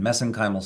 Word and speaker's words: mesenchymal: We pronounce it differently here in the US, but I use the Irish pronunciation, mesenchymal stem cells.